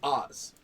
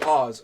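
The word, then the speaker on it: Aahz: No, his name was Oz. A-A-H-Z. And the joke was, everyone would mispronounce it as Oz, O-Z.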